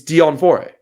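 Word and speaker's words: Deon Fourie: It's like it's Dion Fori.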